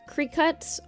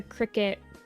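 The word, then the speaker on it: Cricut: I don't think it'll be too much, but I've heard that the crickets, creek cuts, I call them crickets, but I'm pretty sure it's like a creek cut um or a cirut or something like that.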